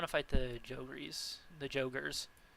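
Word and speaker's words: Jogre: fight the jeries the jogers is it joger I always called them jery like I don't know why I just always thought that's how they were pronounced but joger like jungle ogre oh oh I just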